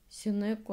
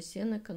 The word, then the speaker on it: Сенека: Услышала в интернете ударение Сенека. Была очень удивлена, поражена. Как так? Я всю жизнь неправильно ударяла Сенеку, оказывается, Сенека. Но потом узнала, что ударение двойное, возможно, и то, и другое, но Сенека предпочтительнее.